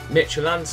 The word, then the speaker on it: Midtjylland: Midtjylland, that's how you say it.